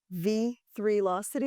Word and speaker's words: V3locity: So now Vitech's flagship platform, V3locity, am I saying it right?